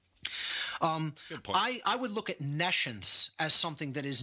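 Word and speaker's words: nescience: or hear the word nations so I'll even spell it for the listening audience it's n e SC ience like n E and then the word science meaning no science again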